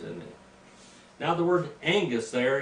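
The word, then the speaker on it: ἐγγύς: or w-y-s e-g-g-y-s but when you've got two gammas in a row two g's in greek the first g becomes an n let me give you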